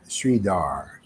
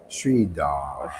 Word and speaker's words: Sridhara: long looking for her you don't pronounce the a and say it a couple times frida again again shrida sridhara sridhara fritter frittata i'm gonna